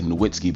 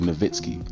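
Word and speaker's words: Nowitzki: w in his name people say nitzky but it's really nitzki but the W and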